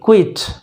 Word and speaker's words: quit: तो इस तरह QUIT, क्विट, QUITE, क्वाइट, QUIET, क्वाइट, समझ गए।